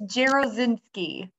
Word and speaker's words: Jarosinski: do you say your last name yeah it's gerozinski so yeah yeah I should have actually pronounce pronunciation earlier I should have said that